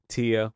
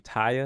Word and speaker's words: Tia: It's Tia, like auntie. Okay, like auntie.